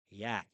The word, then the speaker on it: yacht: Here's the pronunciation, yacht, which means a fast boat.